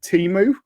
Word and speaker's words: Temu: On Instagram, I kept getting adverts from a site called Temu. I guess that's how you pronounce it.